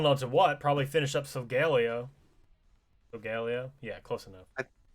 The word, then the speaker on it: Solgaleo: what probably finish up solgaleo regalia yeah close enough i say sogalio but i think it's technically solgaleo or maybe solgaleo i don't know i